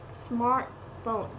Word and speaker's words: smartphone: Pickpockets and smartphone are usually stressed first. Pickpocket, smartphone.